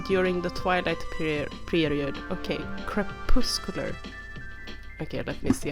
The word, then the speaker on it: crepuscular: I should stop trying to pronounce weird English words. What is this? A crepuscular animal is one that is active primarily during the twilight period. Okay, crepuscular.